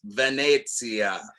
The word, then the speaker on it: Venezia: my italian is terrible but we got to pronounce it right it's venezia and it's here yeah come on gate i'm